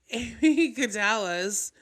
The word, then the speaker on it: amygdala: The way it's pronouncing amygdala.